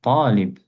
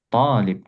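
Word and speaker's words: طالب: Seperti misalkan siswa, talib, talib, to-nya ditekan.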